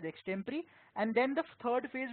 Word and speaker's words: extempore: management games, essays and extempore. Yes, it's not pronounced as extempo, it's pronounced as extempore.